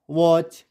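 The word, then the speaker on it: watch: भी नहीं दिया होगा डब्लू ए टी सी एच वच कि यहां पर टी क्या है साइलेंट है हम तो इसको वैसे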